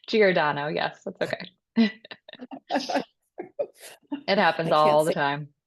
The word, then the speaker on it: Giordano: Giordano, yes, that's okay.